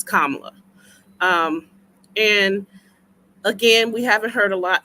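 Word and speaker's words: Kamala: say her name correctly someone taught me just say comma then love so it's KLA um and again we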